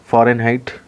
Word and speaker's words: Fahrenheit: आपका वह कहलाता है फॉरेनहाइट egg Chaurai nh-80 skill की स्पेलिंग थोड़ा देख ध्यान दीजिएगा बाहर होना चाहिए फारेनहाइट और फारेनहाइट बोला जाता है वैसे इंच जो है वह करने से साइलेंट रहता है इसमें अब देखिए जो